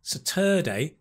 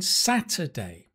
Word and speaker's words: Saturday: Second one was not Saturday, it should have been Saturday. Stress on the first syllable, Saturday.